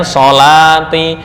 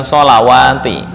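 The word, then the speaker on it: الصلاة: Semua lafal salat dalam Al-Qur'an itu memakai tulisan wawu secara penulisan. Bacanya shati bukan shawati ya.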